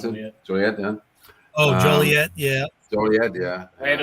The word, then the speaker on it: Joliet: at the forge in in was it called Juliet Juliet how to pronounce it yeah oh Joliet yeah oh yeah yeah made of The Blues